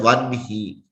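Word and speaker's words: वह्नि: You will write it as Vahni, but you pronounce it as one he.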